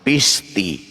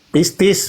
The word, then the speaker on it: pistis: Pisti. Pistis, bukan Oke. pisti. Salah, sekolah di mana Anda? Jadi kurang S aja itu masalah bagi Anda.